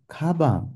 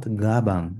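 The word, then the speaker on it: 가방: K why is that it's because when this G is in the initial consonant position it takes on the more emphasized sound so here we will pronounce it as K kabang not gabang not with a G not gabang it will be Kang okay so it will sound more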